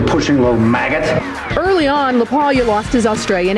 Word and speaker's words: LaPaglia: With me is Anthony Lealia. Did I say it right? You did. When you put that G in there, it kind of messes people up a little bit. Silent G. This is Silent G.